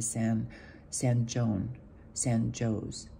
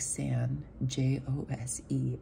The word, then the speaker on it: San Jose: before we get to San Joe's. And we're like, San Joe's. Go, buddy, how do you spell that? He's like, San, J-O-S-E. And we busted up like San, San Jose.